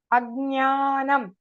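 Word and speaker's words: अज्ञानम्: Because you see a G here, some people put guna, gnanam, guneyam. It is wrong. Ajnanam, Agnyeyam. Like that it must be pronounced.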